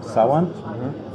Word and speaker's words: Sawant: We've run candidates several times for city office, and in 2013 we were successful in getting a woman called Shama Sawant. That's K-S-H-A-M-A, the K is silent, Sawant, S-A-W-A-N-T.